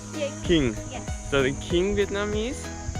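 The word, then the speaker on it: Kinh: So the majority of Vietnamese are King or Kin, how they pronounce? Yeah. King.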